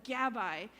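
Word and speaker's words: gabbai: two thanks Rabbi hbr it rhymes with Rabbi Gabby Rabbi they're almost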